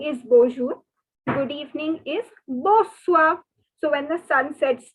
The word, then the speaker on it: bonsoir: pen and note that here also the n is not to be pronounced and the r is not to be pronounced so it is okay see i don't know french is a different language not all the alphabets are to be pronounced so it is not bonsoir so like good morning